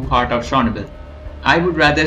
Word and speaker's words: Chornobyl: Did you know that the developers changed the name from Chornobyl to Chornobyl? It was after Russia invaded Ukraine and they changed it to a later Ukrainian pronunciation.